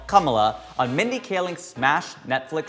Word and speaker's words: Kamala: It's not Kamala. It's not Kamala. It's not Kamala. It's Kamala.